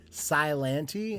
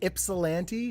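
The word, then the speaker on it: Ypsilanti: the first time because i think i tried to like make the y silent i was like how do you say that city name chris is it like cylantee and these guys laughed at me for like 30 minutes and what is it ipsilanti is that it ipsilanti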